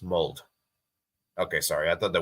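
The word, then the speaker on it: Molde: But Drew says, the E in Mold is pronounced. They're not an English club in order to not pronounce the E. Oh, the Mold is pronounced. Mold.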